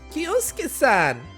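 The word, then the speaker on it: Kyosuke: big round of applause versus coach irene kiyos kiyosuke that's how that name is pronounced i'm honored to have your introduction hello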